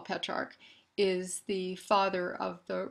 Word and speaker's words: Petrarch: that brings us to patriarch or petrarch there's some disagreement as to how to pronounce it but there's General consensus that uh this man who I call petrarch is the father of